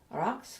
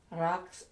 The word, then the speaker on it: Raqs: It's not the same as an ordinary S. They have an ordinary S, but this is special. So no matter which scheme you look at, Raks is always spelt with a Q.